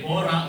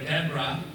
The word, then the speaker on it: Deborah: Okay, Deborah or Deborah. It depends on how you pronounce the name.